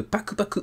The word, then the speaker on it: Paku Paku: semaine il s'agit de Paku Paku parce que oui ça s'écrit Paku PAC mais en réalité ça se prononce en japonais Pak Paku en fait deux fois voilà c'est un